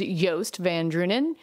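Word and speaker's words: Joost van Dreunen: favorite newsletters that I get if you just spell it it's super Juiced but actually how you say his name is yast van drunen so he is an NYU professor and if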